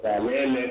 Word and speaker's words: Kalele: Ah mon nom c'est Calel.